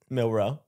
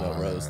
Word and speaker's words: Milroe: What is it? Milroe. I like that you call him Mel Rose, though. If he wins the title, man.